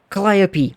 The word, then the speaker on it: Calliope: his cat's name oh Calliope oh I love it I love this cat also how many people read that and didn't know that's how you pronounce that word um anyway Calliope Marie got her a